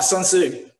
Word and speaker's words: Sun Tzu: Did I pronounce it right? Is it Sun Tzu, Art of War? Oh, Sun Tzu.